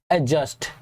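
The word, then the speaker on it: adjust: 11 number, एडजस्ट। याद रखें यहाँ पे डी जो है वो साइलेंट रहता है।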